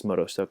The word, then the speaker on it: Motostoke: I keep forgetting how to pronounce it because it's, yes, Motostoke.